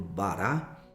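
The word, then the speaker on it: בָּרָא: Quando Deus nos criou, a palavra criar vem da palavra hebraica bara, né? Também pronunciada aí por bará, que é criar daquilo que não existe.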